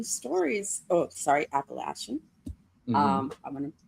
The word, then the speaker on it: Appalachian: So, actually, I found some of those old Appalachian stories. Oh, sorry, Appalachian. Mm-hmm. I'm going to pronounce it correctly.